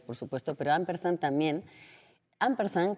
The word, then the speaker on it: ampersand: Ampersan, que se se dice casi en esdújula y y tú lo pronunciaste un poco como es la etimología, porque viene eh de